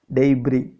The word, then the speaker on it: debris: up with the debris how do we pronounce it debris sc silent here children debris you can